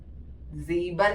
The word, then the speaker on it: sieben: sieben, SEABAN, sieben means 7. Okay, correct pronunciation ആയിരിക്കണം sieben.